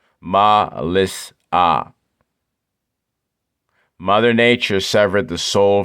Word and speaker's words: Mellissa: Pronunciation. Ma-lis-ah. Mother Nature severed the soul from breath. This is what the code means in the cipher. Okay? Ma-lis-ah.